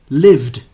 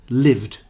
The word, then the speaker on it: lived: star ted instead of lived so we'll look at more examples like that where you don't pronounce the e lived the next one is